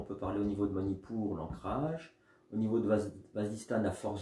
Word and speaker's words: Manipura: vers la colonne vertébrale, Manipur. Et puis on expire vers le nombril, Manipur. Une partie qu'on prononce mentalement, je répète, hein, j'insiste. Une partie, le A muet, qu'on entend mentalement.